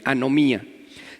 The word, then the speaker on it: anomía: Se escribe anomía, así como suena, no lleva H y lleva acento en la I, anomía, que significa desprecio por las leyes.